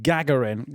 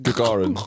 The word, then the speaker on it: Gagarin: Yuri Gagarin Gagarin Yuri in uh he orbited the I believe that's how you pronounce it in the Russian.